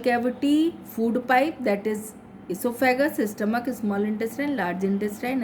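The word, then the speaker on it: oesophagus: Esophagus is also called food pipe. It is pronounced as esophagus, but it begins from O.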